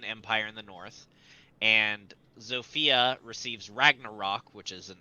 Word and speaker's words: Zofia: And the heroes Rigel and Zofia lead them to victory. Zygel? And Rigel and Rigel. Zofia. Rigel spelled like you'd expect, and Sophia with a Z. PH or F? F. Okay.